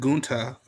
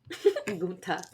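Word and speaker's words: Gunther: Gunta. I like how like the more you say it, there's more of an emphasis on the last syllable.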